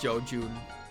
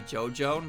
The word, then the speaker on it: JoJoon: is you know uh jun's name is pronounced Joan so her name is actually jojan but I keep calling her Joe Jun so her name is her name is Joe Joan it's perfect Joe Taro